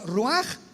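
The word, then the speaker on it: רוח: Por eso el Espíritu Santo se pronuncia roaj, se escribe roach, ch.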